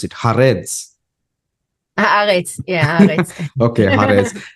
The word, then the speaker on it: Haaretz: You have the newspaper, how do you pronounce it? Haaretz.